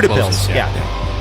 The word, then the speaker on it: Utepils: look at it is it ends with pills okay yeah the beer